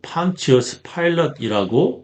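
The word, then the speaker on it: Pontius Pilate: 영어로는 판티어스 파일럿이라고 발음합니다.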